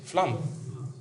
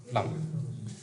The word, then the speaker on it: Flume: Alors, pour le prononcer, c'est Flamme. Flamme.